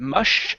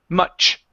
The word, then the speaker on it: much: Instead of mush, it's ch, much.